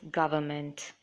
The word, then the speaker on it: government: knowledge and receipt where in government n is silent so the pronunciation is government in knowledge the K